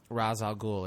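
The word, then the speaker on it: Ra's al Ghul: when he tells uh razal gou as he pronounces it though it's R Al goul otherwise right um when he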